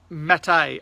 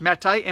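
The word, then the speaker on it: Maté: Gabor Matei I think it's pronounced met a ma t e with a little - so it's like cafe so I it's not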